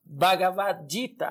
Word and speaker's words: Bhagavad Gita: ¿Y cómo se pronuncia? Bhagavad. El Bhagavad Gita. Bhagavad Gita.